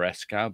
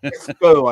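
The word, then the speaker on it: Escaut: at pronouncing things so I'm going for esow but Esco I think Esco yeah let go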